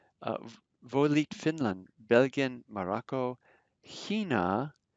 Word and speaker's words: China: volit finland belgium morocco hina that ch is like a guttural in the beginning hina brazilian just see